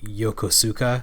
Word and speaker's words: Yokosuka: um you know like yokosuka. Yeah, that's because you know like people don't people don't generally know that the u is silent.